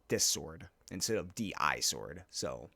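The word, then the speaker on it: Di-Sword: I've been calling it D-I sword. It's actually pronounced dis sword, which is going to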